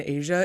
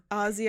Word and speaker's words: Azsi: I feel like anything other than Asia is more awkward to say. It's the people try to overpronounce the Z. Oh, it's like Azsia or Aziza or like anything with the Z.